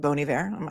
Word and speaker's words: Bon Iver: Bon Iver? I say Bon Iver because I think it should be French.